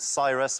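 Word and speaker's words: Psyrus: at I was in a band called Cyrus with a silent P at the beginning of it.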